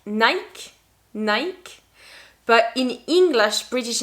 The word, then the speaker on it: Nike: to say that like nike nike but in english british english we are going to say nike nike so the difference is in the last sound e the second one is